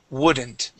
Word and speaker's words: wouldn't: woodn't w woodn't okay the L the L is going to be silent here we do not pronounce that L okay it is wouldn't W wouldn't wouldn't there